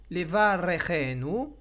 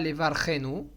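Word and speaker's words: לברכנו: Levarechenu. Alors, il faut bien prononcer le Resh avec un Sheva Na'. Donc, pas Levarchenu. Et pas Levorchenu. Levarechenu.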